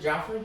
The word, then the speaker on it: Jeffrey: He pronounces it Joffrey?